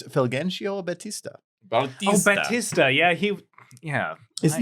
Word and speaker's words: Fulgencio Batista: I can't pronounce that name. Yeah, I can't. It's Fulgencio Batista.